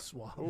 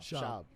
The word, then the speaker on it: Schwab: Swab. Did I say it wrong? Schwab. Fuck, I'm drunk. Schwab. No, Schwab.